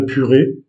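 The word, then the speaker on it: purê: une fois de plus, l'accent aigu donne le son est comme si c'était un accent grave. Donc, purée se dit et s'écrit de la façon qui apparaît ici sur la vidéo.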